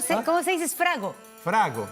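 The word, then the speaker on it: frango: Frago, sí, se dice frago en portugués, ¿no es cierto?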